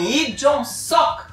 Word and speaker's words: Lee Jong-suk: Sim, Lee Jong-suk é a pronúncia certa, mas a gente aqui na Dramalândia brasileira gosta mesmo é de chamá-lo de Suquinho, pra mostrar aquela intimidade.